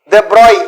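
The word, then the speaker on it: de Broglie: அந்த சமயத்துல தான் இந்த 1924 அப்போ அதுலதான் இந்த டிப்ராய், அதாவது டிப்ராக்லின்னு நம்ம படிப்போம், இவர் பிரெஞ்சு சயின்டிஸ்ட், தெப்ராய் அப்படின்னு சொல்லணும், தெப்ராய்னு ப்ரொனவுன்ஸ் பண்ணணும், எழுதும்போது டிப்ராக்லி அப்படிங்கிறத சொல்லுவோம்.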